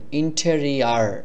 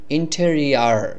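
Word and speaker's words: interior: এর মত উচ্চারণ না করে আর এভাবে করে উচ্চারণ করবেন ইন্টেরিয়ার ইন্টেরিয়ার এটা হলো সঠিক ইন্টেরিয়ার মানে হলো অভ্যন্তরীণ অভ্যন্তরীণ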